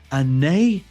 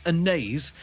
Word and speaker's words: Anaïs: do, and we would have both, we agree, pronounced this as Anaïs in love. But according to the titular character herself within the film, it's Anaïs in love.